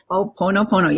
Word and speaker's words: Hoʻoponopono: Did I pronounce that right? Ho'oponopono, yes. Well, okay, I got it. Yeah, sometimes I get too many O's in there, but that's all right. Sometimes I go crazy with my O's.